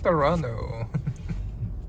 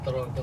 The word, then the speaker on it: Toronto: Toronto.